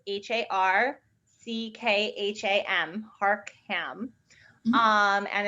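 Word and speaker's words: Harckham: so the uh senator's name is senator harcum it's spelled a little bit differently than one would expect it's h-a-r-c-k-h-a-m harkham um and it's built e um seven eight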